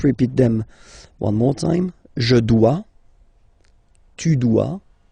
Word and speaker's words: dois: Okay, remember, final S is not pronounced. Je dois. OE, when you combine the two, you get the sound wa wa wa.